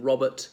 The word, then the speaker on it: Robert: Yeah, perhaps I noticed in Robert, the second R is skipped out, whereas the T is pronounced very distinctly.